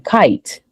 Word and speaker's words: kite: But because you have the E here, now it has become kite. Does that make sense? Yes, I got it. So it's the silent E. It's really the silent E is really the player here that you guys have to watch out for.